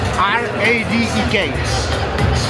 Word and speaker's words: Radek: Spell it? R-A-D-E-K.